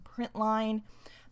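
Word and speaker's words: println: the p r i n t Ln it's pronounced print line that is found in the system class the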